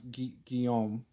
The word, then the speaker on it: Guillaume: Then yeah, I would track him down immediately, and then upon coming across Guillaume, how do I say that, Peter? You're saying it right.